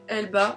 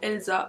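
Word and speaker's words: Elba: scolarité depuis toute petite j'ai toujours prononcé cette marque elsa est en fait je me suis rendu compte cette année que c'était pas elsa mais c'était elle bat et vous voilà en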